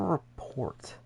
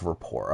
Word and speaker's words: rapport: turnover um so turkey wait okay what's a report a close relationship people groups understanding a feeling okay cool oh Rapport is that what that is okay it's Rapport okay that's just how you spell it well